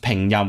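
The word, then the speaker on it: 拼音: It's pronounced pengyam, which means just transliteration, but they have extra K's and P's just to denote like I think short vowels or something.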